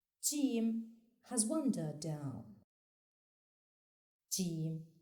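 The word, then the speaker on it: جيم: The fifth letter is pronounced Jim and is written from right to left on the line as it goes down, making a semicircle shape. Jim has one dot down. Jim, like in gentle.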